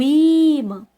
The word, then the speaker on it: ímã: A penúltima sílaba. É o I, né, gente? A gente já sabe que o man é a oxítona, que é a última, né? Se ela fosse a sílaba tônica, né? Mas nesse caso aí é o I, né? O ímã, né? Então, ela vai ser acentuada no I, né?